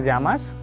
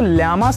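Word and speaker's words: llamas: इसको बहुत लोग यामास भी बोलते हैं, कोमो ते यामास या कोमो ते जामास, कोमो ते यामास। ये डबल ए लिखा है तो ल्यामास नहीं बोलेंगे, कोमो ते जामास, कोमो ते जामास।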